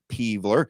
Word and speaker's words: Peevler: My name is Peevler, and then he writes it out phonetically, Peevler.